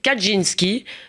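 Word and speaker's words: Kaczyński: pas ignorer très longtemps celui de Yaroslav kadinski c'est comme ça qu'on prononce sal finelcot je crois oui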